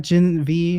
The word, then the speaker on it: Gen V: Gen 5. Gen 5. Okay. Jimmy Yeah. Jimmy V. Shut It up. just uses the Roman numeral. So that's how I pronounce it.